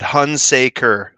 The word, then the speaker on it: Hunsaker: Hunsaker, like 3 syllables. Hunsaker, Yep, there you go.